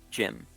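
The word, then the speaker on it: Jaime: He says it's pronounced Jim.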